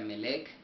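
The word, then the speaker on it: מלך: el H4428, el cual se traduce o se pronuncia Melech, el cual significa un rey, dice, de gente,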